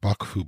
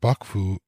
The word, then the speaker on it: 幕府: It is the term Bakufu I'll be covering in this video. Bakufu is made up of two characters. The first, pronounced baku in this case, meaning a tent or curtains.